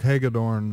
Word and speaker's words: Hagedorn: Doug Hagedorn, is that how you pronounce it, Doug?